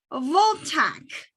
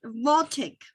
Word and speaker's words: voltaic: of a solar photo voltage did i say it right yeah voltage is voltaic well is the voltage